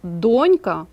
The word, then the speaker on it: донька: запам'ятайте на а дочка але слово донька наголос на першому складі Не плутайте ці слова